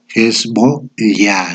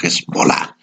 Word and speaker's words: Hezbollah: tello saben que es la forma correcta es es voz ya no es volar se escribe hezbollá pero que hayan puesto